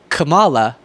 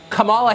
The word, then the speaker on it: Kamala: name is pronounced Kama like the punctuation mark La comma okay seriously